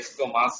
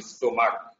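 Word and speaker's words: stomach: এটার নাম হচ্ছে স্টোমাক, ঠিক আছে, উচ্চারণ ভুল করা যাবে না, স্টোমাস বলো না, স্টোমাক, ঠিক আছে।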